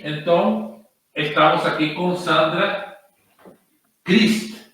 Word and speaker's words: Christ: se escreve É como Cristo em inglês igualzinho sim é assim pronunci o teu nome Sandra Eh meu nome meu sobrenome se pronuncia crist eh de origem alemã meu pai meu pai